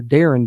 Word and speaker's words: Darian: like it's Daran but it's actually pronounced Darren for the first name and last name Dev